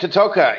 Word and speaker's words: Toteka: Toteka? Is that how you say it? Camp Toteka.